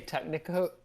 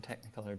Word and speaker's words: Technicolor: Joseph's amazing Technicolor Dreamcoat. Okay, I knew there was another Joseph and syllable the in amazing there. Technicolor. I knew there was another syllable in there.